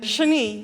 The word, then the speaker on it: Shani: Shani. Shani. Like Shinani. Shani. Like Marie or Chablis or Capri, Italy. You know, short A, long E, accent on the second syllable.